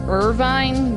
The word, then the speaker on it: Irvine: galbadia garden kunia s' urban Kenya's a lot of people pronounce this name Irvine but I've always said urban and that's just this the easiest thing to say for me so this is